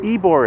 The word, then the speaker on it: Ybor: It What is is- called Ybor. Ybor is how to say it. We had it in one of our 3 guesses. Yeah. Oh yeah. So here we are in downtown, Old Tampa downtown. Ybor it's called, we found out.